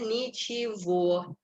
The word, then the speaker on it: ничего: Penekanannya di O, tapi kita bacanya ничего. Jadi huruf G-nya ini kita baca seperti huruf V.